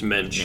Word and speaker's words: mensch: It's not wench, it's mensch. Mensch.